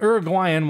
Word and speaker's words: Uruguayan: So the start of Uruguayan, that's how you say it, Uruguayan wine production and Tannat are intertwined.